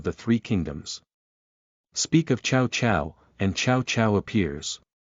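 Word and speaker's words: Cao Cao: Speak of Chow Chow, and Chow Chow appears. The word fuck in Chinese is pronounced as chow as well, but the intonation is slightly different from Chow Chow.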